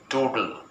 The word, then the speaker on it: toodle: Toodle. And then the British soldiers mockingly said to Mr. Mohanlal, goodbye. Toodle means goodbye. Double O has no pronunciation. The pronunciation is toodle.